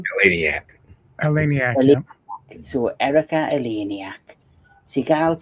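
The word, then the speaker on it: Eleniak: Eleniac.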